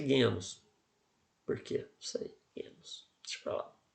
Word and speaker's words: genos: Genos. Mas a pronúncia é genus.